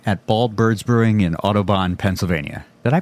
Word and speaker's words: Audubon: We are recording live today at Bald Birds Brewing in Audubon, Pennsylvania. Did I pronounce that right?